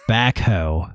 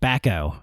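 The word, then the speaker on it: backhoe: of the heavy equipment that was used as backho, which is how I also pronounce it. Michael Cole kept saying Michael Cole kept saying backo. He's got the backo.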